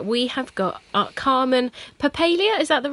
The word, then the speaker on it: Papalia: here from Vancouver we have got calm and poppy Lea is that the right way to say your surname Ann yeah yep perlier perlier perlier poppy Lea you say tomato and now I want to